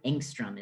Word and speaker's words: angstrom: to this image is very small it's five angstrom is how we pronounce this and the conversion factor for that